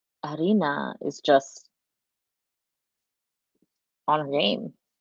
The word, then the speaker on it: Aryna: Now I know how to pronounce her name, right? I'm just gonna say Aryna, Aryna.